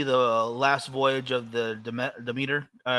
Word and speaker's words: Demeter: I want to see the last voyage of the Demeter. Dementor? Is that what Dementor? I forget how you pronounce it. Demeter.